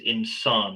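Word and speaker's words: إنسان: it down so um the Arabic word for human is insan am I saying it right insane yeah yeah okay and one of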